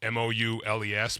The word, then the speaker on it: moules: Dez, m o u l e s mou It's basically No, it's mussels.